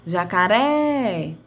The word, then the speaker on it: jacaré: Na palavra jacaré, a sílaba com maior tonicidade é a terceira sílaba, ou seja, a última sílaba, certo?